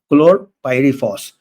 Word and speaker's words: chlorpyrifos: इसका स्पेलिंग है CHLORPYRIFOS, क्लोरपाइरीफॉस।